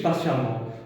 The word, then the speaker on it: patiemment: Quand on attend sur l'arrêt d'autobus, patiemment. On attend patiemment. Nous écrit E, mais nous prononçons A. Donc, nous garde ça E là. On va garder le E, patiemment.